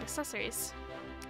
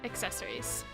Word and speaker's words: accessories: You can also press the X button to equip accessories. Accessories. Helps if I pronounce the C.